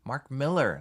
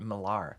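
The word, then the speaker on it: Millar: Helmsworth not Hemsworth not Helmsworth John with the pronunciations Mark Miller not marar saw a great interview with Mark Miller this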